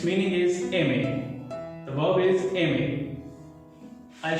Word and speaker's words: aimer: So this verb is aimer. Coming on to its pronunciation, as you will see, R is in the end and there is no R sound in speaking, in pronouncing aimer.